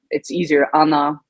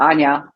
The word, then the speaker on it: Anna: I totally understand if we don't want to use the Polish uh pronunciation Anna sure um I'm okay or Anya that's that's also fine you have multiple names